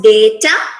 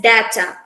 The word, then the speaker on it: data: it's target and archive this word it can be pronounced in two different ways can be pronounced as data and that's data uh it's a common misconception that this word can be only pronounced in either of these two ways but these words can be pronounced in both ways they as data and as data both are not wrong these